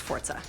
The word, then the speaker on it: Forza: yes 4 it's a it's pronounced Forza as we said earlier